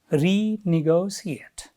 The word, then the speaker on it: renegotiate: it has five and where does the Stray fall not in one place here we get St in two places renegotiate renegotiate in front